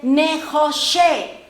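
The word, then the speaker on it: נְחֹשֶׁת: Ahora dice, aquí aparece la palabra serpiente de bronce o de cobre en la escritura, que se dice, ya no se dice Nehash, sino se dice Nehoshe.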